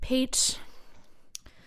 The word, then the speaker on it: Peet: this tick tocker named pete monsingo i believe is how you pronounce it it's p-e-e-t so don't you traditional pete uh and he he